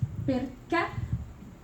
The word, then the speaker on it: perché: So one word can be tronca, which means that the sound is truncate. So like, and it usually has an actual like graphical accent on the last word on the last letter of the word. So this is perché. So the sound is cut at the end.